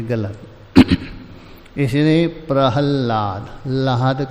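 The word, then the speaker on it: प्रह्लाद: वनतेरू प्रहलाद सचास में और कुछ लोग उच्चारण करते हैं प्रला हाद प्रले लिखते कुछ प्रांत विशेष प्रहलाद बोलते यहां प्रहलाद लाद धातु है अकार पहले है लकार बाद में किंतु विशेष प्रांत में प्रल्हाद बोलते ला पहले बोलते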